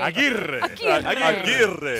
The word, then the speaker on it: Aguirre: The true Cubano, Louis Aguirre. Aguirre. So you roll your R's.